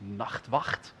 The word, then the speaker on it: Nachtwacht: Now, if you want to hurt your throat, you should try the Dutch pronunciation. It's Nachtwacht.